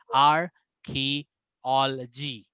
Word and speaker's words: archaeology: गया, OL आ गया, यहाँ पे एक स्क्वा ऐड हो जाएगा। स्क्वा का प्रोनाउंसिएशन जोर से नहीं होगा, आर्कियोलॉजी, आर्कियोलॉजी। वो जो स्क्वा है उसको हम लोग ना ई साउंड करेंगे, ना ए साउंड करेंगे, ना आई साउंड करेंगे। वो जगह थोड़ा साउंड को हम लोग डिम कर लेंगे, थोड़ा वीक साउंड देंगे।